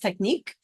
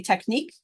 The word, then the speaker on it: technique: we say it really that's not how it's pronounced in conversation it's pronounced technique but for spelling T